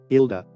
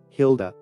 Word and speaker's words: Hilda: pronounced into different ways the Spanish pronunciation is ilda ilda in rest of the regions without the Spanish influence it can be pronounced as Hilda Hilda the meaning of